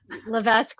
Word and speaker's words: Levesque: uh at Levesque uh and hopefully it's okay it's French Canadian and the S is silent but Levesque works too I have